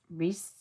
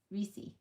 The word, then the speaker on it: Reese's: How do you say it? Reese. Reesei. Not Reese.